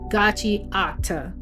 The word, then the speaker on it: Gachiakuta: Today we're diving into part one of our volume 4 breakdown of Gachi Akita or as you may heard it pronounced on the anime Gachi Acta.